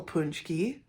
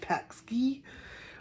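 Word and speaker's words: pączki: a punch he is here's how to spell punch key that's fun it doesn't look like once you get all the look like looks like pack ski but it's called it's pronounced punch me do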